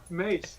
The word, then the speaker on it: Mace: He's been saying Macy the whole time. It's like I have no idea who he's talking about. Fit and KR will being nice. Mace.